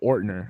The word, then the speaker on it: Ortner: Joe Ortner says just like it's spelled. So Ortner.